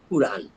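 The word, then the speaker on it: قرآن: তাহলে আলাম মোস্তফা যে বলছিলাম উনি যেখানে ইংরেজিতে লিখেছেন সেখানে উনি সবসময় লিখেছেন কিউ ইউ আর এন। কাজেই উচ্চারণ হবে কুরআন।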